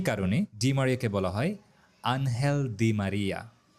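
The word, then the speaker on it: Ángel Di María: ডিম মারিয়াকে বলা হয় আনহেলদি মারিয়া এখানে ডি এর উচ্চারণটা অনেকটা বাংলা দ এর মত আনহেলদি মারিয়া আরেকটা ইন্টারেস্টিং ফ্যাক্ট হচ্ছে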